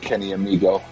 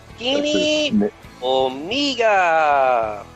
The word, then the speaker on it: Kenny Omega: Because M-E in Japanese is pronounced May.